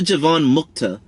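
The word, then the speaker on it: jivanmukta: are like a given mukta what is a jivan mukta essentially javon muchta means people who are liberated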